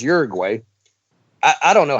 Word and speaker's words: Uruguay: And it's, you know, in Spanish it's pronounced Uruguay, right? But everybody says Uruguay.